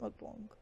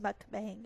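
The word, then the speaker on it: 먹방: her that much she doesn't know how to properly pronounce the word mukbong which is a Korean blog where you eat food and talk like you pronounce it mukbang or mukbang but not she calls it mukbang and I'm like girl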